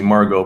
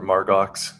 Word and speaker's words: Margot: And also, her name is actually Margot, but everybody just calls her Margox because of the way it's spelled.